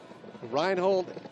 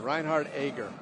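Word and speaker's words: Reinhard Egger: 90 miles an hour reinhold reinhard i dare you now on track i'm going to start that again reinhardt eager it's a shame to mispronounce that when i've been covering him for the last six years reiny 31 years old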